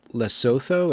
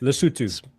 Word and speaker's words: Lesotho: There's a country, I'm going to butcher the pronunciation, Lesotho. It's just right landlocked. Lesotho. Lesotho.